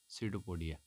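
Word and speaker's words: pseudopodia: होगा जो विकल्प डी सीडो पोडिया यहां पर पी साइलेंट रहेगा और अमीबा जो है प्रचलन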